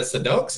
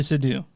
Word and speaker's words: Seydoux: Leah Sedux, is that how you say it? So Sedux? It's Crimes of the Future and it's Leah Seydoux.